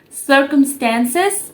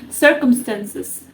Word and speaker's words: circumstances: it's called circumstances so in American accent it's pronounced as circumstances but in British accent it's called circumstances circumstances you know so basically